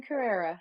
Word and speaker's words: Carere: You, Carere, or how do you yeah, pronounce it? exactly. Oh, you said it exactly right. Carrera.